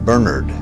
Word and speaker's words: Bernard: well I first met Bernard in 1981 and very quickly learned that his name was pronounced Bernard and I've been correcting people's pronunciation of his